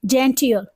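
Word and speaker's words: genteel: पर इसको हम कैसे प्रोनाउंस करेंगे, इसको हम बोलेंगे जेंटियल। व्हाट इज इट, जेंटियल, क्योंकि यहाँ पे डबल ई यूज हुआ है, और ये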